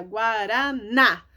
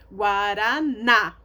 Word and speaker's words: Guaraná: Guaraná. O acento tá no na. A sílaba tônica, a sílaba mais forte é o na. Guaraná.